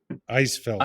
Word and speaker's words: Eisfeld: Eisfeld. It's ice. Like you just think ice is German. So yeah, Eisfeld.